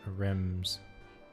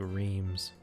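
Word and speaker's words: Reims: I guess that's how you pronounce that, Rems. Not what I was saying, which was like Reams.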